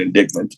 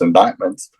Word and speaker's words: indictments: She likes to call it indictments, but it should be pronounced indictments.